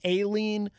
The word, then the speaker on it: Aileen: been saying it wrong it's not Eileen it's Aileen Canon uh the uh judge